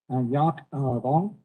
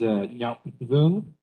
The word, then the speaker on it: Nyap Vung: Okay, our next presenter, you're looking on me, Yak Vong. If you will, please correct my pronunciation. My apologies. Thank you. Thank you. My name is Nyap Vung.